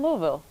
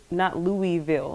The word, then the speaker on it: Louisville: Not Louisville. It's Louisville. It's like Louisville. Yeah. Louisville. Like you gotta say Did it we right. say it right? The technical way to say it is Louisville, but people from here is country, so they just say Louisville. I don't know why.